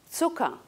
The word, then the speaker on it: Zucker: Zucker, U breve, ¿por qué? Porque la CK en realidad equivale en alemán a una doble K.